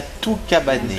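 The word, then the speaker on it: toue cabanée: La toux cabanée. Cabanée, comme une cabane.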